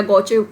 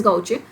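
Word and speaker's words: gauche: उसको आप घोचू या गौचे कुछ भी बोल सकते हैं। एग्जैक्ट जो प्रोनाउंसिएशन है इसकी दैट इज गाउचे, और अगर लर्न करने के लिए बोल रहे हो तो आप घोचू भी बोल सकते हो।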